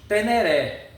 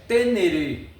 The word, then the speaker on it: Ténéré: Então, na verdade a gente, nós brasileiros, devido o nosso português, lemos Teneré, mas o nome, a pronúncia é tenereê.